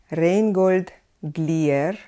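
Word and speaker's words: Reinhold Glière: would be Nikolai Messner Nikolai Messner Rheingold glir Rheingold glir his student Sergei Prokofiev Sergei Prokofiev another teacher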